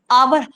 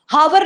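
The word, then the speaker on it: hour: ये देखें आवर। हावर नहीं पढ़ते हम इसको। आर घंटा जो हम पढ़ते हैं ना एच ओ यू आर हॉवर word नहीं है ये।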